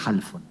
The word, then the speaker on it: Halfón: Yo digo Halfon. Mi abuelo decía Halfon. Es una palabra persa. O sea, que se pronuncia la H, es más una J, ¿no?